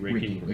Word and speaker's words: Reiki: Reiki, yeah, Reiki.